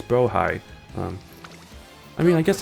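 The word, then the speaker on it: Blåhaj: Um which tech I found out a long time ago that um it's actually pronounced Brohigh. I know people like to pronounce it like blahage because that's what it looks like it pronounced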